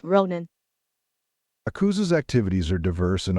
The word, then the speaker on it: Ronin: are killing me it's not pronounced Roden yeah it's pronounced Ronin it's a a a could be yeah it